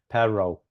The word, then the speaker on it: perro: I still have problems with perro, right? Pinchy perro. Yeah. Not rolling the R's enough.